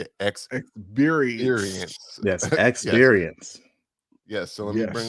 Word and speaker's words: ExBeerience: ExBeerience.